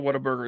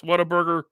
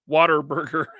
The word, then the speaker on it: Whataburger: Pronounce Whataburger, Waterburger.